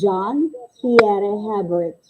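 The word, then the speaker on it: Jean-Pierre Hébert: We pronounce it as John Pierre Hebert.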